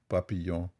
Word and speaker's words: papillon: It doesn't depend how you pronounce it. This is a French word. It is papillon.